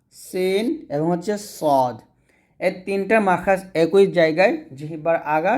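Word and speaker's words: ط: হরফটা উচ্চারণ করবেন তো ত টা অবশ্যই মোটা করতে হবে আমরা ত বলবো না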